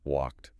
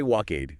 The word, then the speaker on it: walked: Make sure you hit that t in walked. Walk. Don't say walkade.